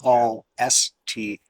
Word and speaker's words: Gloucester: How do you pronounce the name of the town? Gloucester. Gloucester? No, Gloucester. Gloucester. Glosta.